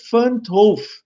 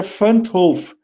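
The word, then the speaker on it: Van 't Hoff: Todos esses processos metabólicos, eles seguem o que a gente chama de lei Van't Hoff, alguns falam assim, mas se pronuncia Van't Hoff.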